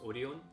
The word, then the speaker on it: Orion: It's pronounced Orion in Korean.